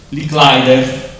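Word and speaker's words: Licklider: a Joseph Carl Robert Mi sono scritto la pronuncia lick leider detto lick per gli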